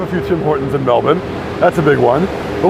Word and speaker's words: Melbourne: Also, Kristen, yeah, we pronounce it Melbourne over here, not even bun, bin, B-I-N. That's how I'd say it.